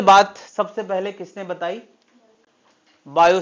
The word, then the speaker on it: Biot: सबसे पहले किसने बताई बायो सेवर्ट इसका टी साइलेंट है साइलेंट भी बोला जाता है थोड़ा गंदे तरीके से बायो सेवर्ट वो लोग बोलते हैं ना ऐसे बायो सेवर्ट तो वो टी अंदर से निकलता है वो वाला है बायो Savart T silent English is a funny language तो बायो सेवर्ट ने